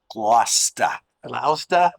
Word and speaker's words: Gloucester: Crow's Nest and glass just how do you pronounce the name of the town Gloucester no Gloucester next pretty good on the 14th